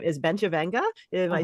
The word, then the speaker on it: Bencivenga: In Italy, it's Bencivenga. It has such a beautiful ring. And you said it perfectly, Bencivenga. I used to live in Italy. Okay. I was like, wow, she knows the true pronunciation.